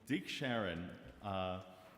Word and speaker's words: Deke Sharon: Hailed by godfather of a cappella, how do you pronounce her name? Deke Sharon.